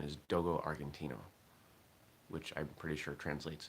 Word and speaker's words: Dogo Argentino: I believe the pronunciation is Dogo Argentino, which I'm pretty sure translates as Argentine dog.